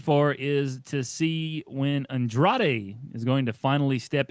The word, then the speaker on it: Andrade: on the andrade part i can't even say it right andrade there we go i had to roll it a little bit there yeah well she said